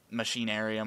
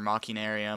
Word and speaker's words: Machinarium: Tales of Monkey Island however you want to pronounce Machinarium or mocking area I know there's imaginary yeah I know that like people will probably kill me for pronouncing it it's Imaginarium it's um yeah if there's an eye if there's a if there's a vowel after a CH it's so to help with